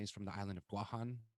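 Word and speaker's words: Guåhan: from the island of guahan which is the correct pronunciation of guam they're telling me to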